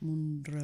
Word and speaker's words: Munro: eh monro pronúncialo bien llevo dos años diciendo mo r hasta que me enteré hace dos semanas que era Moon r Moon r Moon r